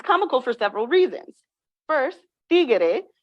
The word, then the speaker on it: tiguere: for several reasons first tigere is a phonological Evolution from the word Tigre which means tiger in English this Innovative pronunciation introducing an additional syllable from Tigre to tigere um shifts the meaning